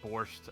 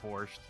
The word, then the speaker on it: borscht: chat saying kept saying you don't see the tea and borscht which apparently that is one pronunciation of it the other one is you do pronounce the t the only non horny